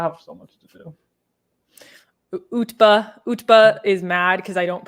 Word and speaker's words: Utba: Utba. Utba. It's UTBA.